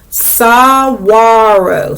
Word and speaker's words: saguaro: up here how to pronounce it so it's pronounced sawaro so it's a saguaro cactus so now i can read the caption the saguaro cactus can grow taller than a house and